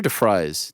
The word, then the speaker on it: DeFries: Is it DeFries or DeFries? No, it's DeFries. You put the DeFries. Yeah, you put the fry emoji. It's spelled like fries.